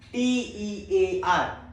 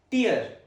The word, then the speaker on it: tear: The today's heteronym is t e a r which has two different pronunciations and meanings. Let's talk about the first one. First pronunciation is tear. t e a r, tear which rhymes with ear.